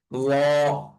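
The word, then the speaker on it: ل: তারপরে হরফের নাম হচ্ছে ল। ল। আমরা সা আর দাল এই দুইটাকে উচ্চারণ যেভাবে করেছিলাম নরম করে, তো এই ল এর উচ্চারণটা এরকম নরম করে উচ্চারণ হবে।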